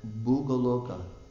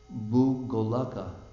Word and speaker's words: Bhugolaka: Bhugolasya, of the planetary system known as Bhugoloka. Excuse me, let's pronounce that right. Bhugolaka.